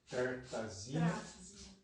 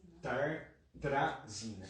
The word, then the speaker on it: Tartrazina: Tartazina. Perdão, me ajuda. Tartrazina. A Pri está me corrigindo aqui, obrigado, querido. Tartrazina, estava pronunciando errado já.